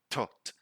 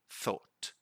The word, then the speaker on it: thought: up saying something like tot and that's not like that so first you put your tongue in between your teeth then you say the word like this thought thought okay but again and just